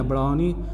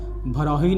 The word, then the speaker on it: बरौनी: Fertiliser, fertiliser भी बरौनी में है। एक्चुअली बरौनी है, बरौनी भरौही नहीं है, तो इट is incorrect in the spelling, ये बरौनी है।